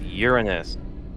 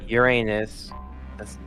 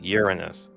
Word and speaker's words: Uranus: Uranus mhm and yes people that's how you pronounce it it's Uranus not Uranus Don't be a little kid about it's Uranus here here course is Neptune mhm and lastly